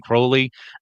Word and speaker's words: Crowley: going to be saying Crowley. Uh, both pronunciations are correct as far as I know. Uh, I'm not trying to be pedantic when I say Crowley instead of Crowley.